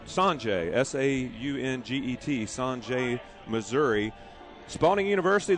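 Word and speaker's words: Sauget: Once again, we're coming to you live from GCS Stadium, and it's Saunget, Missouri, and it's spelled Saunget, S-A-U-N-G-E-T, Saunget, Missouri.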